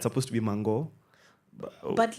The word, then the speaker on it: Mango: It actually is Mango, Mango. Yeah.